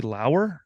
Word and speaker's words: Lauer: Ops joined today by low is that correct I said it right that is correct yes awesome you uh